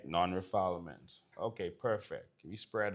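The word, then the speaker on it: non-refoulement: It's spelled nonrefallment because that's not how you pronounce it. All right. Non-refilement.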